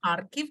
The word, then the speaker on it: Kharkiv: was born in harikov in Russian it is pronounced harikov in Ukraine archive no the uh it's